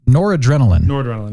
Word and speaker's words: Noradrenaline: 2, promotes, how do you pronounce this? Noradrenaline, yeah.